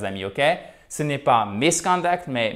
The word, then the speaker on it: misconduct: Et là, ce qui est très intéressant, c'est bien évidemment toujours la place de notre accent tonique, chers amis. Ok? Ce n'est pas misconduct, mais misconduct.